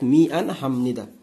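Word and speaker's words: 미안합니다: মিয়ান, তারপরে কি হাম, তারপরে এইখানে বিউপ আছে, বিউপ থেকে এটা ম হয়ে যাচ্ছে হাম, তারপরে নি দা, অর্থাৎ মি আন হাম নিদা।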